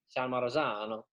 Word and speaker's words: San Marzano: San Marzano.